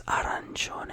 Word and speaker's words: arancione: So it's arancione, a quick roll of the R, and not sioni, gione, like all at once, not sioni, you know.